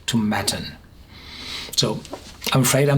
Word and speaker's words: Tomatin: I'm used to saying Tomatin, but definitely it's called like satin Tomatin.